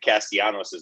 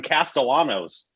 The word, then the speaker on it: Castellanos: concerning myself with but last night he kept pronouncing the l's and nick castiano's name and as a tigers fan who listened